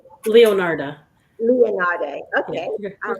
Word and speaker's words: Leonarda: how do you say your last name correctly leonardo leonardo okay all right welcome so let me